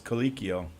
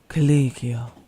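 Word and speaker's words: Colicchio: happened to you people Allison haer says kikio kikio thank you as the guy from as the guy that was just saying or kikio kikio he was clearly not happy with that pronunciation because he's Italian kikio when was she getting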